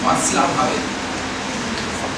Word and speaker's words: Václav Havel: Samuel Beckett was the first person in this stream, and Václav Havel, the spelling is B-A-C-L-A-V-H-A-V-E-L, Václav Havel, the actual pronunciation in Czech is Václav Havel.